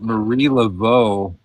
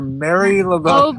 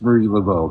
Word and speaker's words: Marie Laveau: did a video about Marie Laveau, where they drastically mispronounced her name. Mary. What? I think they called her Mary Oh, Laveau. because of that Massachusetts, because of their accent, because they and don't so- sound like normal people.